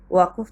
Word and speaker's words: ওয়াকফ: প্রিয় শিক্ষার্থীরা, তোমাদের দৃষ্টি আকর্ষণ করে বলছি, স্ক্রিনে ওয়াকফ থাকলেও উচ্চারণ হবে ওয়াকফ। ফন্টের কারণে হসন্ত আনা যায়নি।